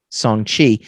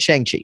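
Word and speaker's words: Shang-Chi: own films it included song chi uh in the article that's how they tell you to pronounce it actually which is great because i kept pronouncing it chiang chi so i don't i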